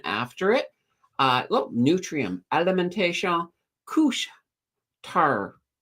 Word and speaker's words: Couche-Tard: Look, Nutrium, Alimentation, Couche-Tard. Couche-Tard. Haha, there we go. They're down. I've been learning that I've been saying the words wrong for alimentation. Couche-Tard. Supposedly that's how it's said.